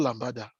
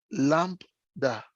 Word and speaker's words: lambda: It's not Lambada. Lambda. Na be the lamb. Know that song? It's lamb with da. With da. Temitope, say lambda. Don't unmute. I can hear you. Say lambda.